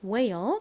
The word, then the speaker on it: whale: 이중자음 WH는 무슨 소리가 난다고 말씀드렸죠? W의 우 소리 혹은 히읗 소리가 나는데 이 단어에서는 우 소리로 쓰인 거죠. 우 소리와 ale 소리가 연결되니까 whale이라는 발음이 됩니다. 자, 고래 whale 따라해 볼게요.